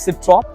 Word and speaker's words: Citroën: सिट्रॉन बोलते हैं कि सिट्रॉ बोलते हैं? Citroën. I think Because it's a French में N pronounce नहीं तो इट्स अ होता। सिट्रॉ। Citroën.